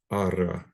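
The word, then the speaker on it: ἆρα: So this is alpha. It's got the smooth breathing, so there's no H sound, and a circumflex, rho alpha. So ara, ara.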